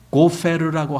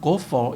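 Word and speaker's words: גֹּפֶר: 이 잣나무라고 하는 이제 우리말 잣나무로 된 이 원래 나무가 고페르라고 하는 단어예요. 영어 발음은 gopher 이렇게 하는데 이 고페르라고 하는 이 나무는 성경 전체에서 여기밖에 안 나와요.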